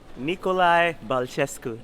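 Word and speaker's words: Nicolae Bălcescu: It's called Nicolae Balcescu. Did I pronounce that right?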